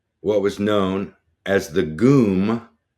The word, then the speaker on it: GUM: And I remember vividly entering what was known as the GUM, kind of rhymes with gloom, the GUM department store.